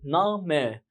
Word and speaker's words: Name: طب اقراها بالالماني هتقول ايه؟ نامه. قلت لك كل اللي بيتكتب بيتقري، مفيش سايلنت.